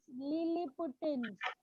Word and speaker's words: Lilliputians: They are known as Lilliputans. Please listen the pronunciation.